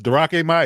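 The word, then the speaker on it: Drake Maye: It's Darake Mai. I'm sorry, sir. I mispronounced his name.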